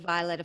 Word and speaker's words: Violeta: And I love that you pronounce my name the same way that I pronounce it. And I don't know if it's correct or not, but that's how I pronounce my name, Violeta.